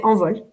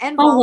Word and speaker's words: Envol: How do you actually say it? I say Envol. You say it right, Envol. Okay, because I actually Googled how to say this in French, and that's so I was like Envol. I think that's how you say it, not Envol. Envol.